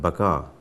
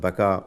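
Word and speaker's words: Baca: still further as to whether the mention of baka b-a-c-a or b-a-k-a in the Psalms chapter 84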